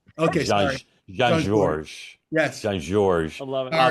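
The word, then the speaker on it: Jean-Georges: blocks from my house, and the S is silent. Okay, sorry. Jean Georges.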